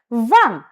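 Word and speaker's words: vingt: Van. The T in van is silent.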